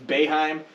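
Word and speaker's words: Boeheim: respect on the name it's baeheim say it right uh he can shove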